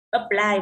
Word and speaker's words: apply: Apply vừa làm xong, âm ơ không nhận trọng âm rơi vào âm thứ hai, apply.